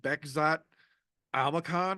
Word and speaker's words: Bekzat Almakhan: They're literally going to have him welcoming a debut fighter in Bekzat Almakhan, I believe is how he pronounces his name.